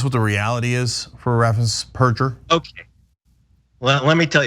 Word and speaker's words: Raffensperger: All right, so Greg, let's first talk about the irony of Brad Raffensperger, as it turns out, is how you pronounce it.